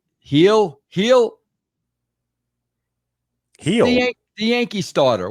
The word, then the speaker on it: Gil: Heel. Heel. Heel. The Yankee starter. What's it? How do you pronounce? Oh yeah. I always say Luis Gil, but yeah, it's heel.